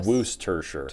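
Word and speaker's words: Worcestershire: according to liam parents the correct pronunciation is what's tur sure or wooster sure okay rose says i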